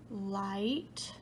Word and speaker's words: light: Did you point to light, bright, and might?